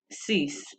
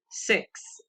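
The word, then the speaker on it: six: So many people say, that's why you hear most people pronounce number 6 as sis instead of 6.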